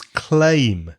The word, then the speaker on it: claim: try my so climb the other word wreck Lamar is claim CLA I am the same sound as stay day way my name Craig that